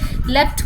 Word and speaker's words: leapt: लेफ्ट का मतलब होता है जंप करना। ओके, एक्चुअल में इसकी जो स्पेलिंग है वो होती है this one, LEAPT। Okay, लेफ्ट होता है, बट पोएट को ये